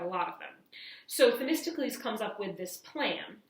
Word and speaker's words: Themistocles: So if you're wondering, this is a very difficult word to pronounce. It's Themistocles.